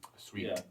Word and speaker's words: suite: A suite? Sweet. Yeah. Well, I didn't call it that. They called it that. Sweet spelled like... Like Sweet Life of Zach and Cody. Okay. Yeah. Like you're living in a suite, not like a sweet treat?